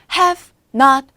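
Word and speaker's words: haven't: 붙는 거예요 근데 여기서도 have not done 할 수 있는 거지만 Haven done이 될 수도 있는 거예요 Haven done hasn't done 그래서요 티 발음이 약간 약하게 되는 거기 때문에 Haven가 되는 거죠 hasn't 색 글자로 3음절로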